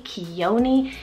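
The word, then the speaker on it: Khione: so so cool I also have kioni k-h-i-o-m-e quioni this is a really cute Greek mythology Memphis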